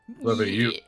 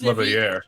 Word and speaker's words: Leveilleur: Leveilleur. It's Leveilleur. Leveilleur. That's not how you pronounce his last name, Mr.